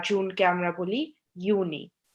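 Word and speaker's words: Juni: For example, জুলাইকে আমরা বলি ইউলি, জুনকে আমরা বলি ইউনি, বা অগস্টকে আমরা বলি আউগস্ট।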